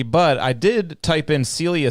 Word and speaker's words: Celia: will say one thing my name is technically pronounced Celia I don't like oh sellia want to sell you